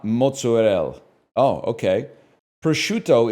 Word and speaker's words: prosciutto: Prosciutto is pronounced prosciutto, not prosciutto.